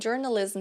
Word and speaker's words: journalism: também tem s, então journalism structure. Aí fica bem mais sutil a pronúncia de tudo, tá? Mas palavras que terminam com M, tá? Com esse som de M, a gente encosta os lábios.